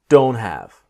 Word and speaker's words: don't: What I want to show you in this module is the T is silent. I don't have I don't have time.